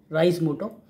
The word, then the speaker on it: Reise Moto: अब इसको नाम को लेके लोग थोड़ा सा प्रोनाउंसिएशन में अलग-अलग तरह से यूज़ करते हैं। कुछ रीज़ मोटो कहता है। कोई राइज़ कुछ रेज़ मोटो बोलते हैं। सो इट इज़ राइज़ मोटो। Actually it's a German word which actually means टू